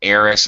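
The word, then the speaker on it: heiress: I say air and AIS I do not pronounce the h by the way okay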